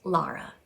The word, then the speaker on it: Lara: all have a name my name is lara l-a-r-a right so i have two syllables la ra i'm going to invite